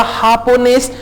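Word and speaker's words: japonés: अब देखें खे की आवाज, जे जो है यहां पे खे की आवाज दे रहा है, तो जे की दो आवाजें हैं, एक हे की है जैसा कि हमने कहा हापोनेस, और एक खे की है जैसा कि हमने कहा रिलॉह।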